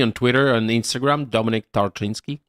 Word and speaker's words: Tarczynski: pronunciations correct so before the show I said trzinski very good pronunciation it's not easy to find me on